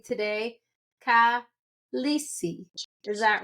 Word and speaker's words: Khaleesi: This is episode 4 with, I am going to say it correctly today, Khaleesi.